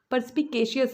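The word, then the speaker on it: perspicacious: Bag, purse वाला purse, इसका pronunciation इस तरह से होता है, वो पर्स नहीं होता है। तो पर्स, पी के सी यस, पर्सपिकेशियस, पर्सपिकेशियस, पर्सपिकेशियस।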